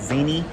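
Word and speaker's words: Zena: I think she said you pronounce it Zini.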